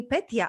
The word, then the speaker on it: Petia: And when I lived in Spain, people had a hard time to pronounce Peti. You know, that's how they call me in Czech Republic. So they started to call me Petia.